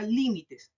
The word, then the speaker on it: límites: ahora en la palabra límites. ¿Ya? Digo, li, mi, tes. Tiene tres sílabas. Li, mi, tes. ¿Dónde se acentúa? Última, penúltima y antepenúltima sílaba. ¿Dónde se acentúa? En la antepenúltima sílaba.